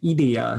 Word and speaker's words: Idea: a gothic fetish bar named idia it's spelled like idea i-d-e-a and it's in kobe and